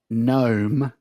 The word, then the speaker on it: gnome: describes the P in pneumonia, the G in gnome, and the K in knob? Bing bang. Rachel, it's Jake. Silent. It is silent.